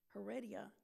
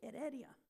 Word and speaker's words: Heredia: really when someone says Heredia and then they say they're pronouncing it the English way no they're not because there's no no English pronunciation it's just edia so you don't pronounce it h okay that's a j